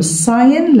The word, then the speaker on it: sign: بنستخدم لغة الإشارة، يبقى بنستخدم sign language، لغة الإشارة. طبعا الجي هنا silent مش منطقها، sign language لغة الإشارة to understand each other عشان نفهم بعضنا البعض.